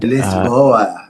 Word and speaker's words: Lisboa: Well, I think since you are now in Lisbon, Portugal and Lisboa, as the locals say, Lisboa.